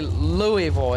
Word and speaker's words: Louisville: it's it's not really Louisville it's Louisville oh Louisville no Louisville did I say Louisville what how do I say you said Louisville it's Louisville gotcha Louisville we don't normally pronounce the E exactly well learn something